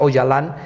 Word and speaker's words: Öcalan: Su gran líder es Abdullah Öcalan, se escribe Öcalan, pero se pronuncia Öcalan, y su gran líder termina capturado, bueno, es